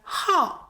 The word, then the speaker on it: 好: Lastly, its other pronunciation is "hào".